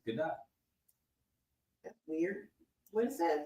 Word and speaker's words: Gadot: because there's the whole thing of people saying Godot, and she came out in an interview and she was like, "That's not my name."